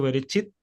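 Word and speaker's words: בְּרֵאשִׁית: Por ejemplo, si está acá, nos indica que la última sílaba, en este caso berechit, sería esta la sílaba que debe acentuarse, ¿sí?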